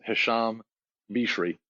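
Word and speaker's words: Hicham Birchi: hear me yeah excellent so the pronunciation of my name the the correct one is this Hassam be cherie and so that was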